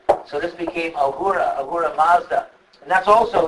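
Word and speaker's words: Ahura Mazda: a surra and uh in Persia they pronounced the S like an H so this became Aura Aura Mazda and that's also like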